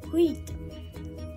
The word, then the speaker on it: huit: And the eight we tell in French is huit. Huit. We don't pronounce H.